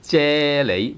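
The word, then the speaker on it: 啫喱: Jelly, either tone 1 or tone 2 if it is a borrowed word. So jello or jelly in Cantonese is 啫喱, 啫喱喱啫喱 jelly or jello, 啫喱.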